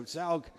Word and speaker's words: Zaug: african mother and uh so zaug is the way his name is pronounced and he's very very